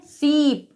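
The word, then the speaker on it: sheep: एस H double E पी तो इसे हम पढ़ते हैं सीप यानी कि इसका दीर्घ उच्चारण होगा।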